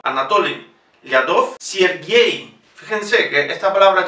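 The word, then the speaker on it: Лядов: Anatoly Lyadov. Fíjense, la O lleva acento, pronunciamos O. Anatoly Lyadov.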